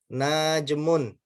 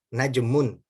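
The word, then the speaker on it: نجم: membacanya masih keliru ya dia bacanya begini ya misal dzalika najmun ya bukan begitu cara bacanya najmun Ya nanya pendek ya kemudian baitun ya bukan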